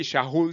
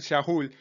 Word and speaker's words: Shaul: si lo tuviéramos enfrente y entonces esto se pronuncia así shahul shahul por qué me persigues ese era su nombre hebreo Saúl porque Y si